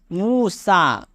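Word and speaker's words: موسیٰ: जैसे हमने लिखा मूसा, इसमें ये पढ़ा नहीं जाएगा, ये साइलेंट है।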